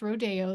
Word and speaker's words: rodeo: And yes, it's pronounced rodeo there.